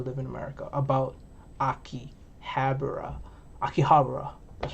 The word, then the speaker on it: Akihabara: i used to live in america about akihabara akihabara that's how you say it so yeah here